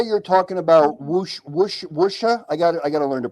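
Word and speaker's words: wuxia: But kind of pull your lips back a bit instead of usha. Wusha. Like that.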